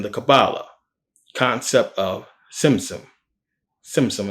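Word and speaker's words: tzimtzum: cabala concept of ssum ssum it has a t but you pronounce it like tsunami ssum also much Hindu thought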